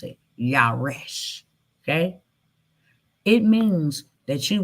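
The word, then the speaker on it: ירש: How you pronounce it. Yaresh.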